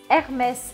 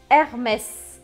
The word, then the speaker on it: Hermès: Hermès. Aqui é uma exceção, você precisa pronunciar o S, tá? Hermès.